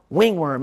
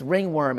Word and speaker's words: ringworm: off the video saying it's not pronounced wing worm it's ringworm and it's okay that